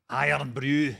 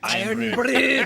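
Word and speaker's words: Irn-Bru: get iron Brew so how do you pronounce it iron Brew iron Brew but when I first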